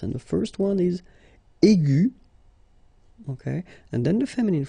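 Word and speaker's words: aiguë: Okay, but then you don't pronounce anything because it is exactly the same. So aigu will become aigu.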